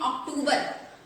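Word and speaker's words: October: क्या लिखा हुआ है, इसको लोग पढ़ते हैं अक्टूबर। ये जी इसमें आर लिखा हुआ है गाइस लास्ट में, इसको आर को प्रोनाउंस नहीं करना है, इसको पढ़ना है अक्टूबर।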